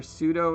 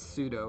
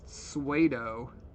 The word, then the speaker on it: pseudo: ugly nonetheless you hear pseudo instead of well how do you pronounce pseudo into these p is definitely silent i know that when